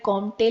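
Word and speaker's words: Comte: कर रहे हैं ऑगस्त कॉम के साथ हां स्पेलिंग में कॉमटे लिखा है बट कॉम बोलते हैं बिकस फ्रेंच तो इनको सोशियोलॉजी का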